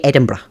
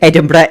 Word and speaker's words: Edinburgh: Wait, Edinburgh isn't hard to pronounce, but the pronunciation isn't obvious. Yeah, that I've always noticed it. Americans typically make the word sounds a lot harsher than the Scots would. And I've not I've not even heard the English make it as hard sounding as as Americans do.